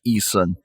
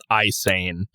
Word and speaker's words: Ihsahn: I want to go through Emperor because I really like Isan or whatever you want to call him. Isane. but it's spelled IHSAHN.